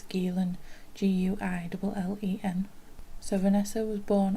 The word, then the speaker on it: Guillen: young lady called vanessa gillan again i'm sorry if i pronounce these things wrong i'm sure it's galen g-u-i-l-e-n so vanessa was